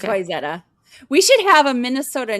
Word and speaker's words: Wayzata: It's Wayzata. We should have a Minnesota name day where I have you guys pronounce names from here.